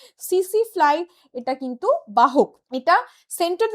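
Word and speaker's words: tsetse fly: এবং এটার বাহক হচ্ছে সিসিফ্লাই। বাহক হচ্ছে সিসিফ্লাই। স্পেলিং লেখা হয় টিএসইটি এসইটিটা এখানে সাইলেন্ট। সিসিফ্লাই এটা কিন্তু বাহক।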